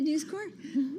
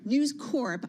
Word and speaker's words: News Corp: forth about this but I tell you it's Corp uh News Corp you can pronounce the P oh did I say news Corps that's why you get